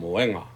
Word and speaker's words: moenga: You have, you emphasize moe, but then when you add the nga, it's adding another syllable. So, the good rule of thumb when reading Samoan or pronouncing Samoan words is to emphasize the second to the last syllable, and so that's why it ends up being moenga.